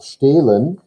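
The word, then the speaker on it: stehlen: verb to steal yeah it's pronounced stalin because it doesn't have an i in it yet but it will get one in some cases but stalin noon to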